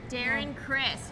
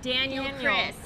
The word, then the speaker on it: Darren Criss: She mispronounced the name. Darren Criss. She said Daniel Criss.